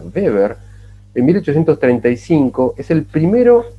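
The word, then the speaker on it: Weber: al electromagnetismo y beber la W en alemán se pronuncia como corta beber en 1835 es el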